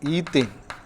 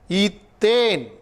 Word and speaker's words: ethane: While you pronounce also, you may be very keen about that. Otherwise, you may go wrong. Ethane, ethene, ethyne. There are difference in the pronouncing. A-N-E, ethane, ethene, ethyne. Okay.